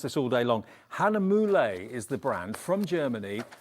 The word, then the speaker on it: Hahnemühle: which is we've been talking about how to pronounce this all day long Hanam moule is the brand from Germany let's just show